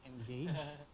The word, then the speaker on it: Andgage: How do you spell engage? Could you spell it, Norbert? Oh, we spell it as Andgage, but it's pronounced as Engage. So Okay.